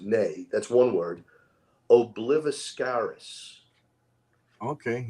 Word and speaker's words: Ne: Okay, and the name of this band is Nay. I'm not even sure. I think people pronounce it Nay.